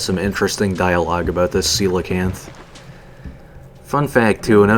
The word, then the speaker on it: coelacanth: just you know based on how the spelling is i mean i guess it's not too incorrect but i am fairly certain coelacanth is the right terminology or the right pronunciation rather who indeed woo hoo